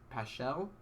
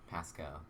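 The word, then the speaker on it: Paschal: rusher and josh uh paschell how do you pronounce that pascal pascal yeah i think so okay and you get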